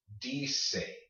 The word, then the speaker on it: dice: You probably had a little bit of trouble with this one, but remember, because you have no silent E at the end of your word, this would be dice, dice, dice, dice, okay?